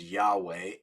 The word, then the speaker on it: Yahweh: significant right well it's four hebrew letters pronounced often as yahweh it would be in